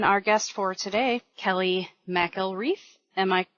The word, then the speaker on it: McElreath: And that being said, I will bring in our guest for today, Kelley McElreath. Am I correct, Kelley? You were really close. It's McElreath. Okay. Yeah, I got the pronunciation from your Facebook page, but it wasn't,